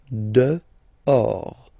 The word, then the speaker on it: dehors: Okay, so remember, final S not pronounced, and then this H in French doesn't exist phonetically, so you don't pronounce it. Dehors.